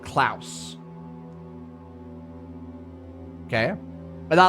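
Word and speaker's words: Klaus: and they pronounced it Clouse.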